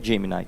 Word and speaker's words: Gemini: gente fala de Gemini a pronúncia diz a Google que é Gemini tá eu tô trazendo